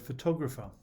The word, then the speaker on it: photograph: problem is the word photographer while photograph has its stress on the first syllable photographer's stress is